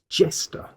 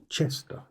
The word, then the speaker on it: Jester: Jester, not Chester. Must be how they say it out there.